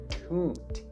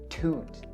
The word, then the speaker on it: toot: So the word toot has its vowel as the oo sound, so toot, toot, right? And it ends with a consonant T sound, so toot or toot.